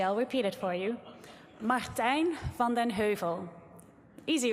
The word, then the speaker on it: Martijn van den Heuvel: Um, so let me help you with the correct pronunciation. So, it's Martin Vondenhu. So, listen carefully. I'll repeat it for you. Martine Fonden Hu.